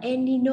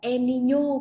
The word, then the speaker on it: El Niño: Ban Nha, cho nên con có thể đọc là El Nino hoặc là El Niño cũng được.